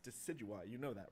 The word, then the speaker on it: Decidueye: next starter up is deca dewey dude it's pronounced decidueye you know that right decidueye it's name comes from deciduous and i you know